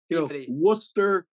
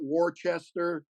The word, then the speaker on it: Worcester: Yeah, and it's I can tell that you've actually been there because you pronounce it correctly, Peabody rather than Peabody. Yeah, Peabody. Worcester, not Worcester.